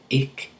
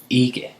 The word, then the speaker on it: ikke: It sounds like they're just saying ik, ik. But this word is actually pronounced ikke, okay? But if you say it quickly, det går ikke særlig godt, or det går ikke godt, okay?